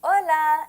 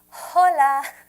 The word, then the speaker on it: hola: The H is silent in Espanol. So when you see an H, you don't say that. You don't say ha. That's why we say hola and not hola.